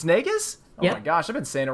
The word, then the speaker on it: Naigus: It's Naigus?